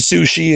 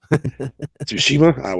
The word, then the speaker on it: Tsushima: progressing with Last of Us and Ghost of Sushi and whatever. So it's not too bad. No, I can never pronounce it.